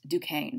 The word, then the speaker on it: Duquesne: forts are like i said right where fort duquesne is um and it's spelled duquesne but it's pronounced duquesne so if you're like going i don't know